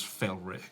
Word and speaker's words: Felick: I pronounce my name as Felick.